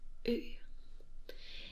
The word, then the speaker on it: ø: one which is ø and a lot of people who come to Denmark have very big problems på Ning ø because we do something øh with our Mou so that like ø comes all the way from down in the thr like Circle with a